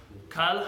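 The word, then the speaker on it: כל: Kal hamira. Now first of all, the word kol or kal, it can be pronounced either way. Kol is literally in Hebrew, kal is in Aramaic.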